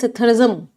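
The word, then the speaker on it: psittacism: The next word is सिथरिज्म। इसमें P silent होता है।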